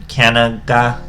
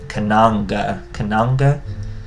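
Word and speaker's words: Cananga: Now we're using some common Aromage cards, like, I don't know how to say her name, Kanaga. She's Kananga.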